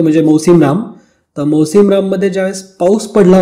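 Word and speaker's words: Mawsynram: आता मौसिमराम हे प्रोनाऊन्स असं आहे, मात्र याचं स्पेलिंग थोडंसं वेगळं आहे. स्पेलिंग आहे MAWSYNARM. ठीक आहे, तर राम सोपं लक्षात राहून जातं.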